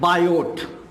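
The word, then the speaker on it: Biot: the Baptist church कि बायोट actually इनका नाम है बायोट बच्चों लेकिन की साइलेंट हो जाता है बायो और दोनों चुके दोनों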